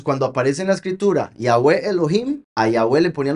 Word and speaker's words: Yahweh: Entonces, Yahoo E. ¿Está claro? Yahweh. Entonces aquí tenemos el nombre Yahweh, la pronunciación correcta.